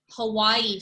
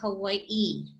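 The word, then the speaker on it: Hawaiʻi: where you see that what i called an okina that little backwards apostrophe is a glottal stop and that basically means you pause so a lot of our words um when you're researching things online unfortunately a lot of these okina's are left out hawaii for example is actually hawaii right there's a little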